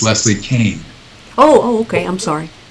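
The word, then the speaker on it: Kaan: in the family called it's spelled k aan Kane but uh but they pronounce it Kane what about Bud Hopkins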